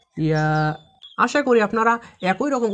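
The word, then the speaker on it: ي: এই ইয়া হরফকে জিহ্বার মাঝখান থেকে নরম করে পড়তে হয়, যেমন ইয়া ইয়া।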